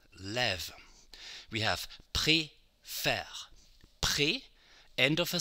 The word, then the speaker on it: préfère: We have préfère. Pré, end of a syllable, E accent aigu, faire.